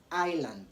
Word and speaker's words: island: should be noted that whenever s comes before l in the following ways s is silent so you don't want